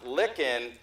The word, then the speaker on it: Licken: probably didn't know that fact because they have told me that your name is pronounced Licken, just like finger licking good.